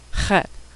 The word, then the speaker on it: Chet: Chet, which makes a sound that doesn't occur in English, but sounds like the German ach.